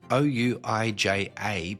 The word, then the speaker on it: Ouija: Now, it's written O-U-I-J-A, but it's pronounced a Ouija board and apparently it's bad news to play with those.